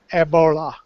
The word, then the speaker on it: Ebola: the African pronunciation because it's a with a very deep a and then they roll the L so it's Eola well